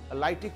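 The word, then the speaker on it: lytic: গুরুত্ব অর্থনৈতিক গুরুত্বের মধ্যে লাইটিক ফেসটা ভালো করে দেখবে লাইটিক ফেস মানে কিন্তু এটা গলন পর্যায়ে আর কি এটা লাইট মানে আলো নয় বানানটা ভালো করে দেখে নেবে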